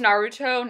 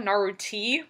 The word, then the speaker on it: Naruto: she just Star Trek I once pronounced Naruto naruti once so I'm not the